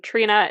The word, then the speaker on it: Tríona: So And to be very clear, for those of you who are listening and are not Irish, Trina is spelled Triona, almost like Fiona, but with a TR, as she very helpfully helped me pronounce the first time that we chatted.